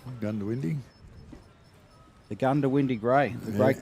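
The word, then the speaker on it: Goondiwindi: Often uh misspoken. Mhm. Gundawindi.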